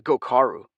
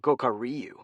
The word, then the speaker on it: Gokaru: Of course, it was Gokaru, not Gokariu. The different pronunciations would have been confusing, I thought, stretching out the word. I was just glad I didn't have to narrate this. It is go like go, car like car, and Ryu like the